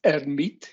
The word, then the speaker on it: Hermite: Correctly pronounced, it's Hermite. It's one of these wonderful French mathematicians.